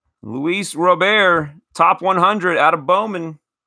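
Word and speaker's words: Luis Robert: it is it is Louis rub air or Robert as the networks say lewis robear top 100 out of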